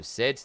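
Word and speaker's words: Cid: Um, to clarify, Sid with S C I D. I said S I which was a horrible misprononunciation of both, which is impressive, but there we go.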